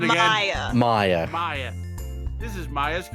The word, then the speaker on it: Maya: What's the pronunciation again? Maya.